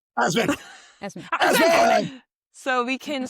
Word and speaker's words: Asman: And we can also spread the word about Brian Osman. Wait, did I say it right? Asman.